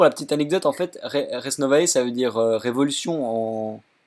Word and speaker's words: Res Novae: gueules mais on rendrait ça se prononce reste nova voilà comme ça vous savez reste mauvaise mais si tu regarde ta vidéo la dernière il ya un moment où tu dis rs novès novès et puis à un